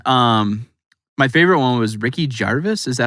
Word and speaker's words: Gervais: And my favorite one was Ricky Gervais.